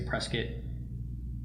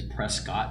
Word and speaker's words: Prescott: Whenever I do social media videos, I always have to say Prescott, which really is Prescott to all you out of towners, because people are like, "Where's Prescott?